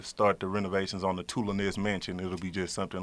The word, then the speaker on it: Tulones: It's Tulones. It's too long. They say too long.